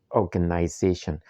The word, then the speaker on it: organization: Example in the word organization. Organization. You can see the secondary stress here is on the first syllable or you can see the comma right there on the transcribed word.